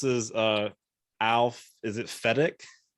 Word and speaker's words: Fedak: um everyone this is uh alph is it fedex it's actually fedex that's how i pronounce it yeah okay that's it's a it's